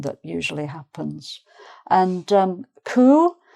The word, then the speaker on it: coup: And um coup. So you can see there's a P on the end of that, but it's not coupe.